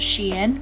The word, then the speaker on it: SHEIN: so i am testing sheen makeup she and sheen however you want to say it i believe they clarified it and said it's actually pronounced she in but i've always pronounced it shane so i'm just gonna